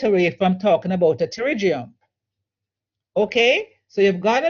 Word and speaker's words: pterygium: to pronounce the words it is a pterygium the p is silent so whenever you're pronouncing